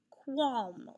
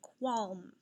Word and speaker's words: qualm: ah sound as well let's take a look at these words squash squat and qualm not a word you hear very often what is representing the ah sound in these words also in a very good even though it sounds like an o it's also represented by an a that's right when the